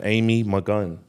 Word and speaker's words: Malkan: Um, on this week we have Amy McGun.